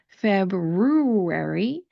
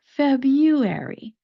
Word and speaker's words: February: The nice part about February, even though it has those two R's in the spelling, the first R does not get pronounced, especially if you're speaking with an American accent. Instead of pronouncing it February, that sounds very odd to me. We're going to pronounce it February.